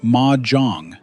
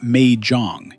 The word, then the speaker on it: Mahjong: So Mahjong, and by the way it's pronounced Mahjong, not Mahjong.